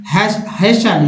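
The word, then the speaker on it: hasten: फिर देखिए लीशन, लीशन में टी साइलेंट होता है, यानी सुनना। हेशन, हेशन मीन्स होता है जल्दी, जल्दी, टी का उच्चारण फासन, फासिन, फासिन मीन्स होता है बांधना।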